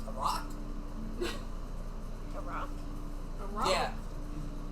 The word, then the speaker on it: roc: It's spelled R-O-K. Okay, I thought it Or was an like. ROC. I thought you were saying like ROCK. I'm like a rock. How is a rock a bird?